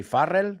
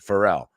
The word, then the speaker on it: Pharrell: Thicke and Pharrell Williams I know you say Farrell we say Pharrell well he says Pharrell and this was a